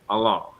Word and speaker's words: Alain: Alan. Judging from his surname, it should be Alain.